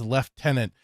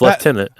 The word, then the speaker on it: lieutenant: But Hit Nerdy Neo said, also, what the fuck is with Brits pronouncing lieutenant as lieutenant? There's no F. yeah, it's lieutenant.